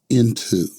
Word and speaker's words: Ntu: It is the letters NTU and it's pronounced into.